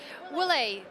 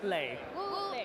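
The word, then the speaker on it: Wu Lei: Wule. Ule is not playing. How do you say? Ule. Wule.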